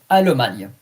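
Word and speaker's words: Allemagne: Almana. A L L E M A G N E. Alman.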